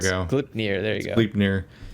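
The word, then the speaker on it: Gleipnir: Gilnpier or something like that. I can't pronounce. There we go. Glipnir.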